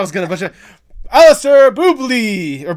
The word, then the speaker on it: Boubli: Alistair Boubli or Boubli.